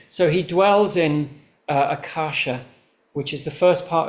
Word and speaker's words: Akasha: Uh so the first part of my name is accasha and that it means uh sky or space but it's a radiant space.